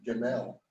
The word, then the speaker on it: Gamaliel: Yep, Gamaliel. I always just pronounce it Gamal. Yeah, Yeah, that's good. Gamaliel.